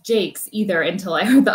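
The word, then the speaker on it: Jacques: i will tell you i did not know the last name was pronounced jake's either until i heard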